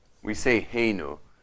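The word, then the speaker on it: Eloheinu: We say Heinu, but we pronounce it Kenu when we're just talking. When I'm saying a blessing, I'll say Elo and then Heinu.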